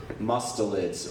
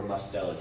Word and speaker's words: mustelids: so this is how to draw mustelids or mustelids you can pronounce it either way my name is